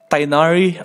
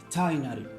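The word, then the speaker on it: Tighnari: really get it uh tainari um I watched a video about how to pronounce his name rule zero it is not freaking tinary cheers he seems really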